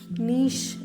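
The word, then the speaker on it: niche: പറയാ എൻ ഐസിഎച്ച് ഇ നീഷ് എന്നാണ് പറയാക ഒരു സിലബിൾ ആണ് നീഷ് എന്ന് വച്ചാൽ ഓരോരുത്തരുടെ ഇൻറരസ്റ്റ്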